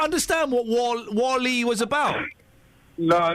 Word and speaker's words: WALL-E: Yeah, but it's pronounced Wally.